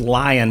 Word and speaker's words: LAION: It's pronounced Lion, but it's LAION.ai.